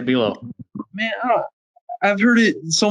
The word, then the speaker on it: Buelow: Buelow. Buelow. So why don't you ever correct us when we say Buelow?